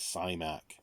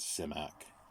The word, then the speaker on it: Simak: it seems to be invariably um said as cymac he pronounced it as semiac because i used to have recorded interviews so